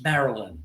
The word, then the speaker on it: Marilyn: Marin Monroe it's like it's not Marin it's Marilyn there's a y in there um another